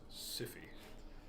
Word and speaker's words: Sifi: I mean, his name is pronounced Sifi. But I do believe that, you know, like Sifi as in syphilis.